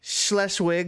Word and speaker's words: Schleswig: is all in German, so I'm gonna try to pronounce this, though I'm sure it's all wrong. Yes. Um, Itzehoe, Schleswig? Schleswig, Yep.